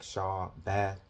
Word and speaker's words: Shabbat: Strong's Concordance H7673, Shabbat, and it's pronounced like Shabbath.